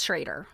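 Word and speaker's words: Schroeder: I've been calling them Schrader. It's Schrader. They pronounce their name Schrader.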